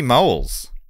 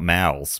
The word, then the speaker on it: Moles: okay so moelles moles not mouths moles moles moles